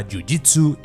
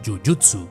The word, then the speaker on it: jiu-jitsu: ¿Por qué en Brasil se pronuncia yujitsu y no yuyutsu?